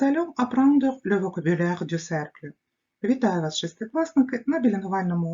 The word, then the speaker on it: cercle: Тож зверніть, будь ласка, увагу на вимову слова «cercle» – «с», адже далі йде «е», але «к» – «cercle», «centre», «corde», «arc».